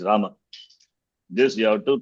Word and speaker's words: Rama: Like Hindi, we cannot cut the last vowel. It's not Ram. It is Rama.